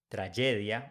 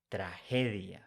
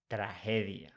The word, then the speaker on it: tragedia: with G in Spanish when it's followed by e g is pronounced like H in English so we don't say tragedia we say tragedia tragedia next example with the